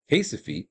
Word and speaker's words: Recife: That is, after 1654, almost all the remaining Dutch and Jewish merchants fled Recife, as Recife. They don't pronounce the R there in Portuguese.